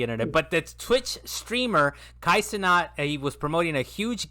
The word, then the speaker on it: Kai Cenat: So it's pronounced Kai Cenat.